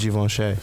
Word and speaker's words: Givenchy: It's Givenchy. Well, it's, yeah. Givenchy. There you go. Givenchy. It's I'll be getting like my tongue twisted and get laughed at. So, Givenchy.